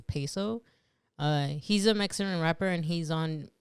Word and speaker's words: Peso: his name PES yeah peso that's how you say it peso I think that's how you say it cuz it's p y so pay and then s o so so so I think